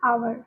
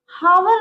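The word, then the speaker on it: hour: अब एक और बात आती है कि मान लेते हैं एच ओ यू आर ये क्या है हमारा आवर ठीक है इसको हम क्या बोलते हैं आवर एच साइलेंट रहता है तो यहां पर एन लगाएं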